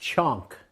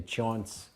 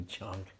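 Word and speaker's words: chaunce: And especially, it's pronounced chonk in America because we'd spell it different ways. We'd say chaunts sometimes. So we didn't know how to say it then either, but it's actually chonk.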